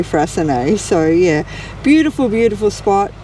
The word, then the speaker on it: Freycinet: We've worked out it's Frasen. So we've said in previous videos we weren't sure how that was pronounced and we were pronouncing it wrong. So um definitely Frasen.